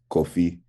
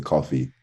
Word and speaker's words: Kofi: I'm from Ghana, and we pronounce it like Kofi with like the accent. But then when I came to Australia, they didn't do that. So it just like turned into coffee, like the drink.